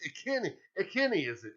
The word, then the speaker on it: Ikhine: It's Ikhine. Ikhine, is it? It's Westbrook Ikhine is how you say it. Uh-huh. Ikhine. I called him Icon.